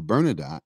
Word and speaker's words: Bernadotte: for Jews, and that Count Bernadotte, or Bernadotte, as is correctly pronounced, had proclaimed to the